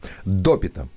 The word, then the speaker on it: Допита: на самом деле да ударение было на первый слов допита да да тобто все